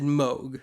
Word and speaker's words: Moog: at the time and yes I said mogh because that's how Bob Moog you know the inventor of the Moog synthesizer pronounced both his name and his product well that and my